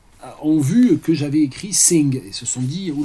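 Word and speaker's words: S!NG: Alors la collection Sing, ça s'écrit S point d'exclamation NG, donc ça joue évidemment sur l'inversion du signe I, et c'est une collection qui est dirigée par Pierre Winkler.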